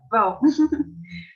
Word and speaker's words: Waal: Eu vou focar, então, para essa apresentação, principalmente em três autores, sendo eles David Hume, Charles Darwin e Franz de Waal, que recentemente descobri que se pronuncia Waal, que é muito bom de saber, né?